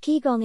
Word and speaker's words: Qigong: years ago as part of traditional Chinese medicine pronounced Qigong kigong involves movements designed to maximize energy in the